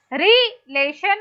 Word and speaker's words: relation: So, re will be unstressed, lay will be stressed, and shan will be unstressed.